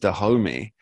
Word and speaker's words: Dahomey: it, namely being that I believe this is pronounced Dahomey, Yeah, spelt with Tommy.